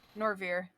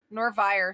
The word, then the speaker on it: Norvier: use this for now norvier nor vire sorry is how it's pronounced i'll give you a